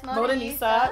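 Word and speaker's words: Modanisa: So Halima just recently collabed with Moda Nisa. Am I saying it correctly? Yes, Moda Nisa.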